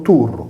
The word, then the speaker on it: Tyrus: Torres, omonima femminile del maschile turus, pronunciato turru, senza la S sigmatica del nominativo latino, come l'importante città libanese di Tiro.